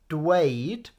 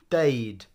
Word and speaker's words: dweud: So to say is dweud, or you'll often hear people like these two just saying deud.